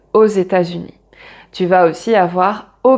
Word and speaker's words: aux États-Unis: Et là, on prononce le X avec le E puisque c'est une voyelle et on prononce comme un Z, aux États-Unis.